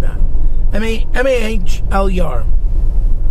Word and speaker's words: Mahler: like that i mean m-a-h-l-er mahler i believe is how he's pronouncing either way he went